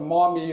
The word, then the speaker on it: Miami: The Miami tribe was not Miami, Florida. All right, the Maumee is another way it's been pronounced.